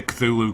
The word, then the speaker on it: Cthulhu: You know, Lovecraft said you're not supposed to be able to pronounce it. It's supposed to be like you're coughing. But I'm not going to bother with it. We're going to say Cthulhu because that's what people say.